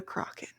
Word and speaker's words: Crochan: going to get it taken back is the Kraken.